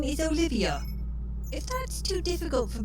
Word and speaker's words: Olivia: at your Advanced ages just think of an olive and add an IIA and pronounce it slightly differently still oliv should get you most of the way there screen's dark you know